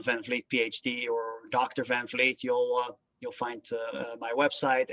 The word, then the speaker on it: van Vliet: my name van vliet phd or dr van fleet you'll you'll find my website and my google